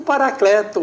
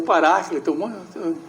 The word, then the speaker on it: Paráclito: ele enviará para vocês o paracleto o paráclito é uma palavra que Diverge das pronúncias eh que é o